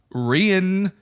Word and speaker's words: Rian: to talk to a rien Jong I'm not saying Ryan it's spelled RI a and Ryan it's rien that's yeah I I